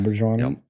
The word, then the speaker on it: Auberjonois: Yep, Auberjonois.